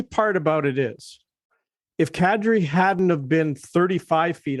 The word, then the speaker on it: Kadri: secondly the funny part about it is if kadri hadn't have been 35 feet off uh over